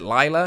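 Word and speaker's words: Leila Grey: be facing against uh layla is it lila is how you say layla lila gray announced for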